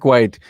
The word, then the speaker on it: White: White. Did I say that? White is it is White. Yes. Yeah. Just White? Like it's spelled. Yes, it's White.